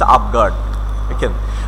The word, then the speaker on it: avant-garde: The pronunciation is avant-garde. So in this regard, and that is also the main principle of modernism.